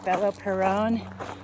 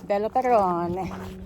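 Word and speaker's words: Beloperone: identify it as i don't know how to pronounce it the bello peron b-e-l-o-p-e-r-o-n-e here's one bella perron i like it with pepperoni hi i'm my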